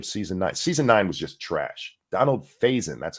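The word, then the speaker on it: Donald Faison: of season n season 9ine was just trash Donald phasin that's how you say it sorry um none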